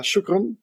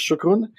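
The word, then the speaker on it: شكرًا: So shukran. If I pronounce well, please correct me. I try to say thank you in Arabic, Standard Arabic, and I've been learning it from my colleagues. So I think it's shukran.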